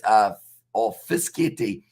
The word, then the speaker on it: Fischetti: I'll help out with the forwards' names, pronunciation Amish. It's Fischetti, Lukeshi, and Ciccarelli.